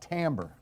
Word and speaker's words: timbre: How about timbre? It's pronounced completely different from what you think it would be pronounced.